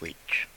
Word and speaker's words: Leach: Yes, her name was Mrs. Leach, which also rhymes with bleach, and I thought of her as Mrs.